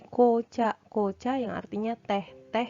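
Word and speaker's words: 紅茶: Kemudian apabila disambungkan dengan kanji beni, ini beni, ko, dibacanya menjadi kocha.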